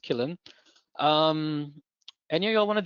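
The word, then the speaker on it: Qilin: It's spelled Quillin, but as far as I know, it's pronounced Killin.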